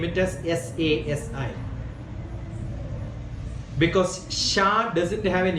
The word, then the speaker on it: Sasi: In South India, we name it as SASI. Because Shah doesn't have an English word. Shah cannot be pronounced in English.